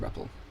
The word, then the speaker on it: REPL: So that's why it's called ripple. Okay.